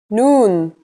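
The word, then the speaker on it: نون: in Arabic that's noon the noon is pronounced just like the English n pretty easy right it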